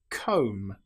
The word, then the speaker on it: comb: The B can sometimes come after the letter M. An example might be lamb or comb. Here we don't pronounce the B. We don't say lamb. It's just lamb or comb. The B is totally silent.